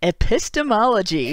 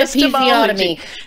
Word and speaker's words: epistemology: Oh gosh, I never pronounce this word right, because I always first read it as a episiotomy. Feminist scholarship on epistemology. Epistemology, not episiotomy.